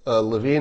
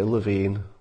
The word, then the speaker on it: Levin: for the campaign okay Levine Levin am I still saying it wrong love in I guess apparently I'm still pronouncing his room name bro I apologized to